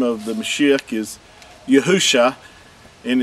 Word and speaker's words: Yahusha: the the Messi's name yahusha this is uh the Paleo Hebrew and Hebrew reads from uh left to right the first three letters uh are pronounced as Yahoo and the last two